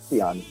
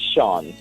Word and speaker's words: Sion: A lot of persons they use the American way of pronouncing it. They call it Sean. So that's okay. I've been called Sean many times and I would answer because I I don't want to be at telling everyone, no, it's not Sean, it's Sion, but the real pronunciation is Sion and it's Irish, Okay.